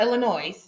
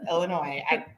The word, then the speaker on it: Illinois: to say it now it doesn't have an s it's not illinois it's illinois yeah why are you